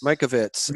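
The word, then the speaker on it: Mikovits: Judy Michael wits is that how you pronounce her name Mike Ovitz Mike Ovitz you got it okay well then and they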